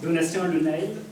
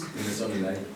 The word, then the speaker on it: Donatien Le Nail: Donatien Le Nail, c'est comme ça que ça se prononce. Donatien Le Nail.